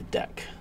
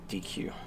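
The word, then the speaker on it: deque: return to DQ or deck object. The name is pronounced deck and is short for double-ended queue.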